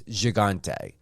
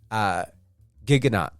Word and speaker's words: Gigante: Yeah, everyone has a different pronunciation for it. The French pronunciation is Gigante. When I spoke to Cam, it's Gigante.